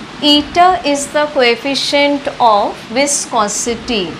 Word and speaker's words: eta: Eta is the coefficient of viscosity. This is pronounced as eta in Greek language.